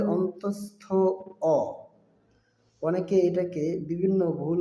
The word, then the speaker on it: য়: দর্শক, বর্ণটির সঠিক উচ্চারণ হবে অন্তস্থ অ।